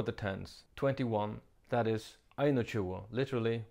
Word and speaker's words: einogtúgu: In this system, the ones come before the tens, 21, that is, einotjuo, literally 1 and 20.